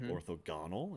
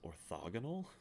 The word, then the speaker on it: orthogonal: about the game sagrada i mispronounced the new word that i just learned um it's not orthogonal it's orthogonal correct that from last